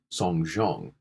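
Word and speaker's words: 送钟: Another common interpretation of this is that the phrase to give a clock in Chinese is pronounced song zhong in Mandarin, which is a homophone of a phrase for terminating or attending a funeral.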